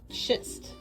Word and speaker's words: schist: Two common metamorphic rocks are gneiss, and schist, rhymes with twist.